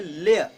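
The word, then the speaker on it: lyre: आप जब इसको प्रोनाउंसिएशन करने लगेंगे तो एक ही मात्रा पर थोड़ा सा दबाव लेकर चलेंगे, लेयर, लेयर, a string musical instrument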